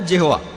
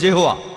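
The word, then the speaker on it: Jehovah: আর উচ্চারণ করার সময় তারা সামনে একটা জে লাগায়, আর এটা হয়ে যায় জেহোয়া।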